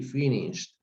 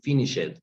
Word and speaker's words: finished: we pronounce the d finished okay but we don't pronounce the e so we don't say finish it we say finished okay but we pronounce the d but not the e okay so we're going